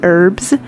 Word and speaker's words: herbs: just with the E, herbs. And well, my husband's from England and they say it with the H, and it drives him